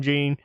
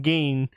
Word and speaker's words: Gein: Us in the South call him Gene. They called him Geen up north. It looks like it should be pronounced Gene, Gein. That's fucking Gene, not Geen.